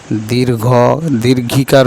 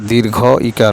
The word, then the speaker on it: দীর্ঘ ইকার: নাম হচ্ছে দীর্ঘ ইকার আমরা যদি অনেক সময় দীর্ঘ দীর্ঘকার বলি অনেকে অনেকে দীর্ঘ ইকার আসলে এটার নাম হচ্ছে দীর্ঘ ইকার শুদ্ধতম উচ্চারণ হচ্ছে দীর্ঘ